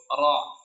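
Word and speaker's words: ر: Jadi ketika pengucapan huruf ro tidak perlu bibirnya ikut gerak maju ke depan.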